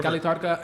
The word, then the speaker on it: Cali Tardka: Cali Tardka? Yeah, in Cali Tardka.